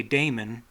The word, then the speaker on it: daemon: word and meaning now it could be argued that both words should be pronounced the same but that almost wouldn't make sense to me because they mean different things so why would they be pronounced the same if they mean something different the entomology of both words is probably significant so at least in my mind I want to say Damon for the Damon word and Demon